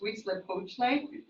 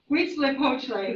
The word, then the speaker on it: Huitzilopochtli: The one that starts with an H is pronounced Huitzilopochtli. Yeah, Huitzilopochtli, who is the patron saint of the Aztec, and he was the sun god.